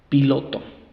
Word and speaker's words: pilot: Pilot, la segunda es débil, reducimos a un schwa. Pie, la primera sílaba tónica.